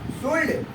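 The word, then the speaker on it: should: शुड पढ़े इसको, नहीं, शुड नहीं पढ़ना है इसको, बिल्कुल शुड पढ़ना है, क्योंकि मैंने पहले आपको बताया कि डी से पहले भी एल आया तो एल साइलेंट होता है।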